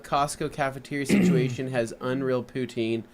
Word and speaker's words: poutine: Alex says, oddly enough, Costco cafeteria situation has unreal poutine. Pronunciation is like Putin. There you go. Huh. Like Putin? Putin? Like you're pouting your eyes out.